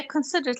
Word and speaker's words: considerate: لكن هذه الادجective considerate الادجكتيف تكون ايوه again هي considerate لكن حاولت نغيرها زي ما نطقتها سنة يعني considerate people ايوه هي considerate هي اللي صح لأنها مش طويلة لأنها adjective مش verb الطوال اللي